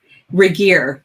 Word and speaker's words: Regier: here today with reggier um am i pronouncing your last name right regier but everybody everybody makes it french so that's okay i'm